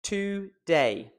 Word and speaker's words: today: Today. That is two syllables. In English, there is only ever one stressed syllable in a word. For example, the word today. We're stressing the word day.